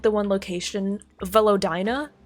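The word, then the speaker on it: Velodyna: like the one location velina right so it's spelled v e l o d y n a right I keep keep on Switching the n and the Y so I read it as vadia yeah I read it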